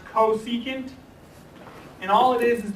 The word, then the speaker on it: cosecant: real quick so this csc function this is pronounced cosecant and all it is is the reciprocal of